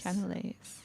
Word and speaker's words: cannelé: pronounced? Yeah, canales. Cannelés.